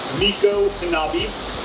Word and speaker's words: Micanopy: here aboard the Chief Micanopy, or if you want to say it properly, Miko Hanabi. Miko is the Seminole honorific for chief, and Hanabi was his name.